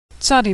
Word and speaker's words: Tzadi: Tzadi makes a TS sound like at the end of the word pants or nuts. Tzadi has a special final form, tzadi, and final tzadi.